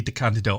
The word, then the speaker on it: DeCandido: little bleep um everywhere where I say his name wrong it's definitely D candido I am so so sorry okay okay back